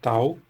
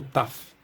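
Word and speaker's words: ταυ: No grego antigo a gente translitera isso aqui como tal, e no grego moderno a gente pronuncia aqui como taf. Então a gente tem taf.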